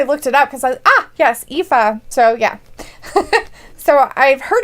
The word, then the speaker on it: Aoife: that's why I looked it up, because yes, Aoife.